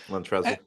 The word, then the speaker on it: Montrezl: Just throw the L on the end. Montrezl.